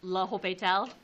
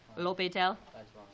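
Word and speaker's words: L'Hôpital: I believe it's pronounced laopetel. You don't say the s I believe in the French. Lopeel.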